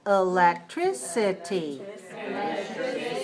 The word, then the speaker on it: electricity: electricity let's say that electricity five syllables stress the third electricity Veil shut down the electricity at 10.